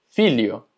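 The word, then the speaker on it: filho: La LH se pronuncia como li. Por ejemplo, filio. Filio, que significa hijo. Alio, que significa ajo. Ilia, que significa isla. Y malia, que significa malla. Entonces, la LH es li.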